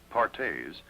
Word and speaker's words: Perthes: her doctors another crippling disease known as Perthes pronounced partes was the demoralizing ailment that brought this little